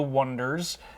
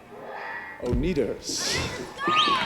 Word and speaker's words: Oneders: It's about this band called The Wonders, and at first they spell it with an O-N-E. The Oneders. That's The Wonders. D-E-R-S, but everybody pronounces it the Oneders, so eventually in the movie they just change it to the standard W-O-N-D-E-R-S. It doesn't work.